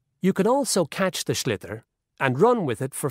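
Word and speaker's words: sliotar: you have to get this ball called a schlitter that's s-l-i-o-t so it's not spelt the way it's pronounced you hit it into the net for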